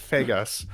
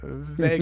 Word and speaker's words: Vegas: uh and I don't do not pronounce it as Las Vagas uh thank you very much it is Vegas yeah you do yeah